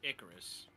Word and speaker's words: Icarus: In modern day, you pronounce it Icarus.